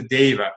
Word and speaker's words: Deva: Now, he was a Deva. I don't like to say diva. That might be the way you pronounce it.